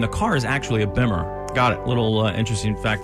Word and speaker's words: Bimmer: Car people call the motorcycles Beamers and the cars Bimmers.